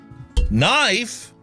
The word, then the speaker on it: knife: Knife, the K is silent.